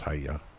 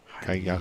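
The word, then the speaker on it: kiai: And it's actually spelled like Kaya. Okay. Yeah. Maybe that's what they were saying. We just thought it was Hiya. Kaya.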